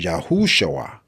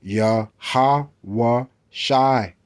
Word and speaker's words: Yahushua: So as we scroll down, we see Joshua is H3091, and it says Yahushua, Yahushua, but that's not how you pronounce it. Okay, you'll say Yahweh Shai right there, Yahweh Shai.